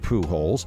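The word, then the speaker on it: Pujols: here the catalon word for small hell is Pooh holes pronounced Pooh holes and according to the official website for the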